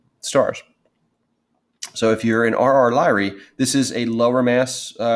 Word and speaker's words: RR Lyrae: And there's 2 important types of these, RR Lyrae. So this is how you would pronounce it, RR Lyrae stars.